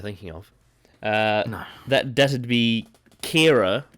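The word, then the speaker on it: Qi'ra: of that doesn't be Kira which is spelled Qi apostrophe RA which is very strange it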